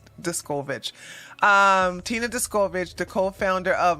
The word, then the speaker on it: Descovich: Last week, Tina Descovich, oh my God, let me get her name right. Discovich. I think it's pronounced Discovich.